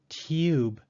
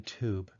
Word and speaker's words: tube: An American speaker will not try to pronounce tube with the Y sound. A British speaker, however, will try to say tube rather than tube.